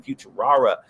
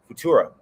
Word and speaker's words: Futura: The OG Batmobile 1955 Lincoln Futura. That's not how you say it. Futura.